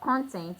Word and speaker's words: contents: He was asked the number of contents in the basket. He was asked the number of contents in the basket. So the stress is on the first syllable to show that it's a noun.